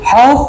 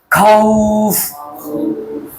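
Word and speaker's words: خوف: থেকে মিন খাউফ খাউফ হবে না খাওফ খাউফ খাউফ কেমন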